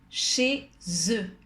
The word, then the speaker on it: chez eux: Cuidado a la liaison entre la Z y la E. Es hacer el sonido Z. Nous allons chez eux.